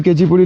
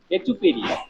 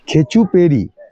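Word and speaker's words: Khecheopalri: তো like comment and subscribe পৌঁছে গেছি কেচিপুরি লেকের সামনে এই গাড়ি লেকে ঢোকার আগে এরকম একটা পার্কিং আছে যেখানে গাড়িটাড়ি সব রাখতে হয় আর এই আমার সামনে এ হচ্ছে কেচিপুরি লেক যাওয়ার গেটচুয়ালি উচ্চারণটা খেচুপেরি খেচুপেরি খেচু পেরি লেক এ বড় কঠিন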